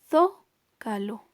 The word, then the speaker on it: zócalo: de atrás para adelante tenemos la palabra zócalo ahí tenemos un acento ortográfico y entonces decimos zócalo es muy notorio que es una palabra esdrújula tenemos la palabra méxico